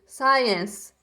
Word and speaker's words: science: né matemática saias ciência tá gente não pronuncia esse esse e no final a gente pronuncia só o som dos e Science Science ciências english inglês